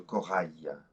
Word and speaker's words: corail: Now, when we say le corail, the IL ending is pronounced just like the Y of yes, okay? It's different from le cheval. It's le corail, okay?